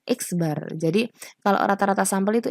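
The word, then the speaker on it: x̄: Ya, selanjutnya rata-rata sampel itu ini kita bacanya X bar.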